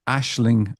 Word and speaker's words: Aisling: called Ashling Dreams, and Ashling is spelled Aisling.